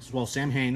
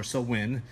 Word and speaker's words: Samhain: Check out Blue Samhain, Samhain is what some would say, or Sowin is the right way to pronounce that.